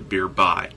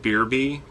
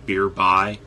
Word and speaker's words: Beerby: this one's named a Beer by it looks like beer be but in the description they specifically tell you that it's named beer by like it rhymes with nearby anyway beer by is